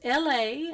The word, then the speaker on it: Elle: It's like the city in California, Los Angeles, but they call it LA, and that's precisely how you should pronounce my name, just as a reminder, and sent with love.